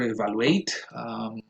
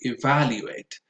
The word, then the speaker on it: evaluate: Um, the other word is evaluate. The stress goes on the second syllable. Probably never evaluate, but you would always be safe if you say evaluate.